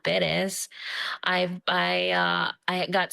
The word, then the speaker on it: Perez: So when I moved here, I found out I was mispronouncing my name. I wasn't Perez, I was Perez.